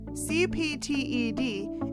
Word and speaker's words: CPTED: CPTED is pronounced CPTED.